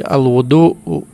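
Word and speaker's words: الوُضوء: Apabila dibaca dengan dhamma, maka dibacanya jadi al-wudu, artinya ialah berwudu atau mengambil air untuk wudu.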